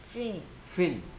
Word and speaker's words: fin: pin pin 이거는 fin fin p pin.